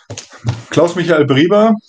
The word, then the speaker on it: Klaus Michael Brieber: Klaus Michael Brieber, it's like so it's pronounced in German.